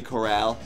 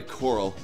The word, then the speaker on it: Coral: yeah that was pretty Corral sorry Coral is the actual pronunciation but Mr Casper has